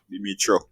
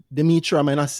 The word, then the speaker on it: Dmytro: Oh gosh, well, we've been talking for a long time, Quite a Dmytro.